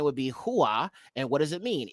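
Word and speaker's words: הָוָא: 933 okay but see they pronounce it as Hava but it should be Hua not Hava Hua all right so he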